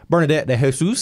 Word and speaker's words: Bernadette de Jesus: Bernadette de Jesus, is that right? Yes. I pronounced it right.